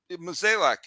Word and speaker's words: Mozeliak: You know, I think they got to – Mozeliak, is that how you pronounce his last name?